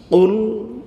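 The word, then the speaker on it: قل: sudah jauh sekali ya hanya beda kaf dengan qf itu jauh ya kalau ee ul itu katakanlah kalau kul makanlah ya adoh toh ya makanya harus benar pengucapannya it makhrajnya harus benar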